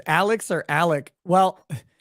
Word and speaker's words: Alex: so uh steelax says Alex or Alec well his name is spelled Alex murdaugh and it's apparently pronounced Alec Murdock yeah so I